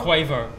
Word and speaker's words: Quavo: Now, apparently I was pronouncing Quavo wrong. Quavo! Quavo. My fault. You guys up there, my fault. It's Quavo.